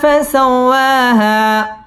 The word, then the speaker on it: فسواها: ফাসাও ওয়াও তাশদীদ ওয়ালা হরফ, ওয়াও ঠোঁট গোল করে উচ্চারণ করতে হবে। ওয়া মধ্যে তবাই 1 আলিফ টেনে পড়তে হবে।